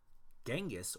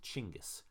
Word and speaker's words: Chinggis: for now know this in Mongolian and most other languages actually his name is pronounced chingus but it has been